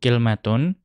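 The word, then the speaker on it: كلمة: Dan terkadang yang namanya kalimatun, atau di sini menggunakan cara baca yang lain yaitu kilmatun, itu digunakan.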